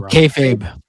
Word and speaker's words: kayfabe: Well, yeah, but like I I think there's a lot of kayfab and I think it's I'm pronouncing that right, aren't I, Bender? I always feel like I'm pronouncing Oh, kayfabe.